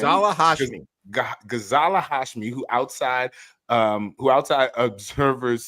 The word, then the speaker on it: Ghazala Hashmi: How do you pronounce this person's name? Ghazala Hashmi.